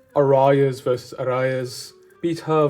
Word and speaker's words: pita: Shawarma, like arayas versus arayas, pita versus pita, like, you know, obviously in English you pronounce it pita, like pita bread. But you know, in my family we've always called it pita.